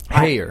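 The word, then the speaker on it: Heyer: Hayer.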